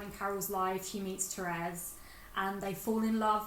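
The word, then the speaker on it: Thérèse: And I think it's pronounced Therese. Yeah, it's spelled Therese, but it's Therese.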